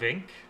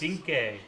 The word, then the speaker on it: Vinc: Is it incorrect, pronounced but Vink? I don't know. V-I-N-C? Vink Diesel. Vink. Vink. But he But looks great.